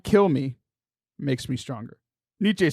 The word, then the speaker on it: Nietzsche: also don't understand how it's spelled how it's pronounced niche n-i-e-t-z-s-c-h-e Niche it's like that's why I failed